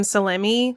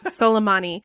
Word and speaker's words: Soleimani: the death of kasym Salemi selami I keep saying the name wrong I'll get a salami that's fun salami no that's that's something they would do on Fox News Soleimani and he was an